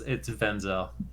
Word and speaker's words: Venzel: An easy way, it's Venzel. Venzel? Yeah, okay. Venzel. All right, there you go. Like Denzel Washington, except Denzel. with a V kind of thing.